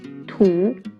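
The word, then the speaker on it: 土: the first one means earth or dirt it's pronounced tu can you find shu in this character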